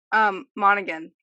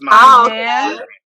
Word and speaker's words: Monaghan: Monaghan. Is that how you pronounce his last name? Monahan. I think it's Monahan.